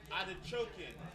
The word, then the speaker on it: Adachokin: His name is Christ Adachokin. Adachokin. Adachokin. Like I'm odding and choking somebody.